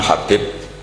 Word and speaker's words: Habib: yang nulis Abi Abdurrahman Habib assulami itu di harakatnya kitab itu ada yang nulis sub l yang benar Oh ngih yang benar itu bacanya habib habib itu asulami itu